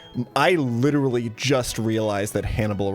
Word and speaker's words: Hannibal: I literally just realized that Hannibal rhymes with cannibal, and that's where the name is from.